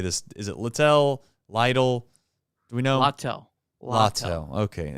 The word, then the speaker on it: Littell: Lytle? Do we know? Littell. Okay, of course. It's always something. So Littell.